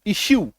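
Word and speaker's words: issue: उकार या बड़ी उकार की मात्रा दो इसका उच्चारण होता है जैसे कि I double S यू ई इशू ठीक है ए आर जीय आर्गू टिशू ी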